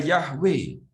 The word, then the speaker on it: Yahweh: Jika kamu berbalik kepada yahwe bacanya harus begitu supaya menjadi jelas Yahweh adalah Allah Israel dengan segenap hati Maka